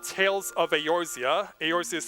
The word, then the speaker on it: Eorzea: It's called Tales of Eorzea. Eorzea is spelled E-O-R-Z-E-A.